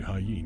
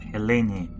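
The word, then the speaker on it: Helene: Even if we could, it would bring me straight to Hyen or Mars. Not places I want to be. He also says hyen instead of heleni.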